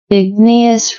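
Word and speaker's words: igneous: further so Ignus Rock Let's see if we're pronouncing it correctly click here Ignus rock yeah so Ignus ous Rock derived from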